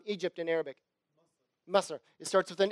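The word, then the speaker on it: مصر: In fact, in Arabic, how do you pronounce Egypt in Arabic? Masr.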